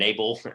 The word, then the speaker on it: NABL: Like we said, Nick is here to talk about NABL and NABL, as I now learned about 5 minutes ago. That's how you say it.